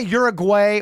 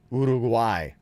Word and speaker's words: Uruguay: jezelle where are you from I am from Uruguay ugu who we have been here a while wow very nice quick question can some people say you're a way or is that considered you know this guy